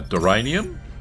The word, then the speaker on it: deranium: Let's uh get some uh deranium. Rhymes with geranium.